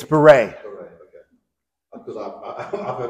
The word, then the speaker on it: Baret: It's Baret. Baret, okay. Because I've heard about it. The English pronunciation is Baret.